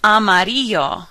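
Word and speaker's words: amarillo: the r from armadillo make sure your LL sounds like a y say the word amadio and it will almost sound the same as amario yellow so think armadillo is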